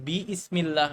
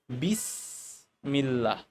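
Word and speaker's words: بسم الله: তখন আমরা করি কি এই যে হামজাটা যেহেতু হামজাতুর ওয়াসুল এটা কিন্তু উচ্চারণে আসবে না আমরা কিন্তু বি ইসমিল্লাহ বলবো না আমরা বলব বিসমিল্লাহ ঠিক আছে ভালো করে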